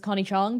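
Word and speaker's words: Connie Chng: me Connie hey folks uh my name is Connie Chong pronounced a and she you can find me across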